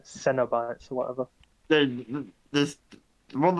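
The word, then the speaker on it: Cenobites: made a joke oh sinner bite sounds like a cinnamon base cereal that's sweet it's no it's not pronounced like cinnamon it's pronounced like it's c-e-n not c-i-n Cena bites or whatever then there's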